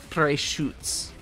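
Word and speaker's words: Freischütz: tail PRS PR shoots oh I've been pronouncing that wrong this entire time it's it's fres shoots what a loser D fres shoots hey I don't speak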